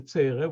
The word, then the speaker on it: Tzere: The A sound, we have the Tzere, which is like A, long A, and the Segol, which is short A.